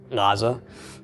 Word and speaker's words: Gaza: It's actually Gaza. If we were to transliterate it today, we'd probably lose the G in front of it entirely because it's quickly becoming a silent letter. But originally it made that, some portion of a G sound.